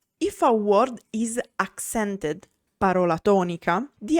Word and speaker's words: parola: A word is piana or parossitona when the accent is on the penultimate syllable. For example, parola, word.